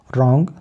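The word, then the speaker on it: wrong: जाता है यानी कि डब् के बाद आर हो तो डब् साइलेंट हो जाता है तो हम किस साइ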